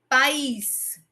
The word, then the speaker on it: país: País. País. São as vogais o quê? O a e o i, que são sílabas, desculpa, sílabas diferentes, tá certo?